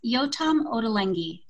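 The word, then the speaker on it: Yotam Ottolenghi: trying to practice to say yo absolutely it's yotam odalengi yotam on the leggy what a great just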